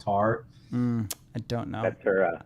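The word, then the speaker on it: Tár: It's pronounced Tar.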